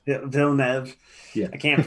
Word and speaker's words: Villeneuve: Denis Villeneuve. Villeneuve. Yeah. I can't pronounce it.